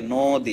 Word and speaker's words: নদী: জন্য লিখে রাখছি এই যে নদী যেটা আমাদের উচ্চারণ হবে হচ্ছে নদী হ্যাঁ এজন্য আমরা এখানে একটা ব্র্যাকেট দিয়ে ওকার